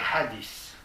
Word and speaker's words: hadith: Le premier que je mentionne, ce sont les hadiths. En fait, ça ne se prononce pas ce, ça se prononce hadith. Un feu, comme dans thin en anglais, maigre, T-H-I-N.